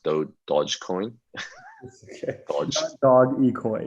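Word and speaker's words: Dogecoin: i looked it up greg and it is pronounced though dodge coin dog equine not dog equine which is what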